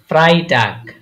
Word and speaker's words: Freitag: G কি হয়েছে Freitag ফ্রাইটাগ Freitag হ্যাঁ ফ্রাই এই যে ই আগে তারপর আয় পরে তাহলে কি হয় ফ্রাই হ্যাঁ ফ্রাইটাগ Freitag হ্যাঁ ফ্রাই বা একটা কলার ছিল তো তার জন্য লিখলাম আর কি।